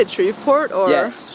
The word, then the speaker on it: Shreveport: So you were born in, how do you say it, Shreveport? Or? Yes, Shreveport, Yeah.